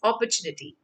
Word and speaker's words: opportunity: It goes the way you say copper. Copper is a metal, so you say opper.